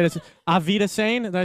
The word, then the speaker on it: Auf Wiedersehen: Auf Wiedersehen. Did I say it right? Auf Wiedersehen.